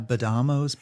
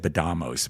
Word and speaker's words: Badamo: The one from December, did that have Badamos pizza in it? Actually, and am I saying it right or wrong? Oh yeah, it's I I always said badamos, but Anthony says badamo.